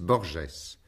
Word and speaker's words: Borges: approche de jorge luis borgès l'écrivain a bien voulu agréé cette prononciation franciser les entretiens qui vont